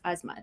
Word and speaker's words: Azmat: don't i'll be like oh actually it's not cubby it's asthma i can help you pronounce